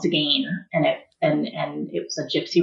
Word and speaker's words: Tzigane: And so Zigane, but the Zigane is like, it's got a silent T in the front. So it's spelled Tzigane. And it's super complicated. So it's like, if you take the T out of it, that's, it's spelled like it sounds.